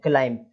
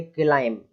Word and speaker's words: climb: पढ़ देते हैं, क्लाइंब, बी लगा देते हैं, क्लाइंब। ऐसा नहीं लगाना है, केवल इतना ही पढ़ेंगे, क्लाइंब। क्लाइंब मतलब चढ़ना होता है, लिखा हुआ है क्लाइंब, ऐसे पढ़ना है उसको। बी यहाँ पर साइलेंट रहेगा।